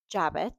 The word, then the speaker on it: jabot: this is called and the American pronunciation is jabot, which I think I knew.